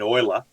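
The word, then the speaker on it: Euler: um i don't know who's he you mean oiler yeah it's a weather i'm happy with all the pronunciation i would have said neela but that's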